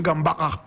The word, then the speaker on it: Gambaga: Correct pronunciation, Gambaga.